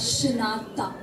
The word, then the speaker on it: Shinatha: It is pronounced as Shinatha.